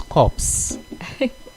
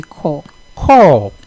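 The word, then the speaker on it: corps: correct pronunciation should be called call wonderful so the p there is silence the s there is absolutely silence so it's called call you pronounce it as if it's spelled c-o-r-e call call so what's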